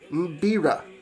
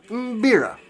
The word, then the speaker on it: mbira: beera it's spelled m-b-i-r-a so if you uh pronounced beera yeah beera okay so that's how it's pronounced uh and